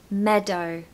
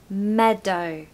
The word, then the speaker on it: meadow: Pronunciation tip for meadow, stress the first syllable. So meadow, meadow.